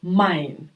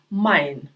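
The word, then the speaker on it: Mai: так е і наприклад як у слові Май е і читається як ай Май далі еу як в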